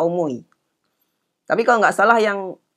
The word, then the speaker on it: 思い: Kata omoi itu hurufnya seperti ini. Jadi ada dua versi ya. Omoi masnya ditulis dengan huruf kanji yang begini. Dan yang satu lagi begini. Itu sama-sama aja bacanya kata omoi.